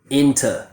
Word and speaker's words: into: In-tuh. So most of the time students pronounce this word perfectly and they say thuh, in-tuh, thuh. But a native speaker will use the schwa and say in-tuh, tuh, than or then.